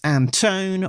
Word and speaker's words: Anton: Editor is Alex Anton rhymes with phone.